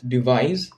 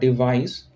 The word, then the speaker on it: devise: It's devise. It's not device.